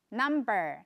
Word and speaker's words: numb: 下一个是 numb，麻木的。这个字同学们有听过 number 对不对？数字 number 就是把后面的 E-R 拿掉，就变成了这个麻木的。那特别注意一下 numb，它后面的 b 是 silent b，它是不发音的 numb，麻木的。Oh, my legs are numb，有人午睡起来就整个脚都麻掉了，手麻掉了。